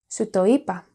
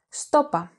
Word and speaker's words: σου το είπα: This can also be pronounced στόπα, with the pronoun σου and the verb form είπα contracted. To further complement this variety,